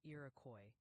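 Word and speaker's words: Iroquois: They're gently suggesting Iracoy County is pronounced closer to Irakcoy.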